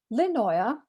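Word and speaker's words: Lindøya: experience began to unfurl lynnoia you don't pronounce the d obviously was first camped on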